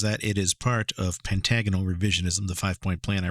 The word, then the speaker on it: pentagonal: Is it pentagonal or is it pentagonal? Personally, I've heard it pronounced both ways. The Merriam-Webster Dictionary, however, gives the pronunciation as the first one, pentagonal, so that's what I'm going to go with, as it's likely the correct one.